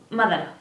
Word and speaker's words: Madara: Madara, que lleva tilde en la A, en la primera A.